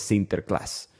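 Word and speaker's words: Sinterklaas: ellos celebran a San Nicolás pronunciado en holandés sinter Class por supuesto de este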